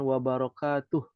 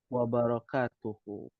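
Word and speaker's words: وبركاته: Arab harakati semuanya ya jangan wabarokatuh ya disukunkan karena kita sedang belajar ya maka dibacanya waalaikumsalamu warahmatullahi warakatuh wabarakatuhu seperti itu tiib ahadul fityah ahadul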